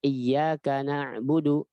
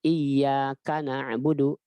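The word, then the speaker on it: إِيَّاكَ نَعْبُدُ: dari na'budu atau nasta'in jadi bacanya iyyaka na'budu bukan Iya karena budu seperti Iya dan karena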